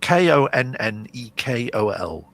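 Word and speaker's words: Konnakol: But if you, it's Konnekol.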